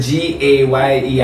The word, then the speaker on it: Gaye: Gay Magazine our cuz that's spelled g a y e. I'm a Marvin Gaye. They must celebrate. g a y e, Gaye.